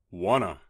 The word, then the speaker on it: want to: Want to sounds like wanna.